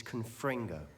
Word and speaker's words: Confringo: The incantation is Confringo. Very well. Confringo. My apologies for mispronouncing that earlier.